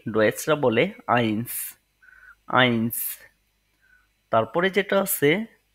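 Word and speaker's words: eins: তারপরে যেটি আছে ওয়ান ওয়ান কে ডয়েসরা বলে আইন্স আইন্স তারপরে যেটা আছে টু টু টু কে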